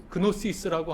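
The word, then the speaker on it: γνῶσις: 그게 그노시스라고 하는 그리스어 지식이라는 뜻인데요. 거기서 이제 유래한 겁니다. 그 크가 묵음인데 묵음이지만 원래는 그노시스 이렇게 발음했습니다.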